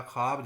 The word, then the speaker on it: خواب: خوش کا وزن بھی، اسی طرح خواب جو ہے یہ ایک ہجے بلند اور یہ جو ہے ہجے کوتاہ، خے الف خا اور بے، یہ واو جو ہے اس میں شمار نہیں ہوگی۔ خے اور الف مل کر جو ہے ایک ہجے بلند بنائیں گے، اور بے جو ہے یہ ہجے کوتاہ ہوگی۔ یہ واو مادولہ کہلاتی ہے۔ اس کے بعد یہ